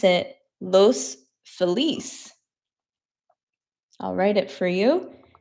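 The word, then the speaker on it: Los Feliz: There's an area in LA called Los Felas, but it is actually a Spanish word. So sometimes I accidentally pronounce it los feliss. I'll write it for you just in case you've never heard of it. Los file is what people say,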